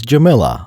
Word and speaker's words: Jamilia: This one is Queen Jamilia, successor to Amidala. That second I is a bit debatable. Captain Typho pronounced her name as Jamila.